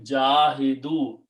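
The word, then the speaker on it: جاهدوا: Okay, and in order to pronounce, you call this dhamma and this sukoon. So it became jahidu.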